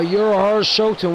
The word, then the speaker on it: Urahara Shoten: The Urahara Shoten.